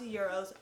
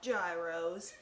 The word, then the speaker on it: gyros: had delicious tzatziki sauce delicious euros and it's pronounced euros not gyros alright so we're gonna make today some greek